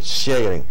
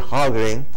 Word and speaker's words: Sjögren: Eso se escribe SJ con dos punticos sobre la J, que no se usa en español, O-G-R-E-N, Sjögren. Se escribe Sjögren, se pronuncia Sjögren en alemán.